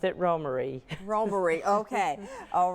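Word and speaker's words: Romare: doesn't it well it does just about everybody pronounced it Rohmer but he himself pronounced it ro Murray robbery okay all right so it's Roma do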